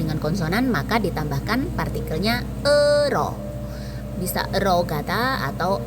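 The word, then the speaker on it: 의: Ei di sini karena ditaruh di belakang maka dibacanya e artinya milik.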